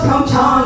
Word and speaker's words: PyeongChang: And so that was what was happening, is Americans would say PyeongChang, and Koreans said, no, it's PyeongChang, and blah, blah, blah. And so, well, interestingly enough, NPR was pronouncing it as PyeongChang.